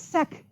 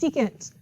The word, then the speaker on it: sec: not it is cosecant this is not SEC it's secant this is not cot